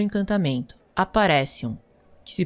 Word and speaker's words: Aparecium: sua varinha no objeto e dizer o encantamento, Aparecium, que se pronuncia Aparecium.